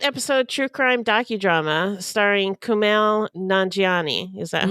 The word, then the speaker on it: Kumail Nanjiani: it's an eight episode True Crime docudrama starring Kumail nanjiani is that how it's pronounced yes yes yummy he's a yummy man